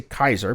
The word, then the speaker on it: Caesar: got something called a caesar cipher i'm supposed to say kaiser because that's you know that should be a hard c in latin but what the hell um a c followed by an a if i remember correctly my latin is supposed to be hard um this is called